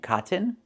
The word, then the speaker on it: cotton: You can use a real T and say kitten, button, and cotton, or do the stop T and fall to the N. Kitten, kitten, button, button, cotton, cotton. That's how we pronounce these words, and also Latin, the same way.